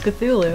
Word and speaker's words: Cthulhu: something which Zulu yeah it's like the c th it's supposed to be like one sound and not like to